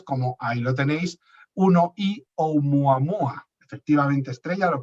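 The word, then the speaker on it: ʻOumuamua: son objetos interestelares, como ahí lo tenéis, 1I Oumuamua. Efectivamente, Estrella, lo pronunciabas bien. 1 porque es el primero que se detectó, y porque es interestelar, y luego el nombre, Oumuamua, ¿de acuerdo?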